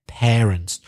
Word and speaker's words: parents: classic Spanish mispronunciation parents the first a is pronounced pair parents not par parents part from her the